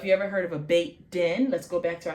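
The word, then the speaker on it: בית: So if you ever heard of a beit din, let's go back to our beit. Even though it's bait, and when it's a house of something, it becomes bait.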